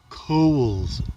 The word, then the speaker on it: Cowles: name coal's Mountain pronounced Kohl's as in the department store not the way that people usually pronounce it which I won't even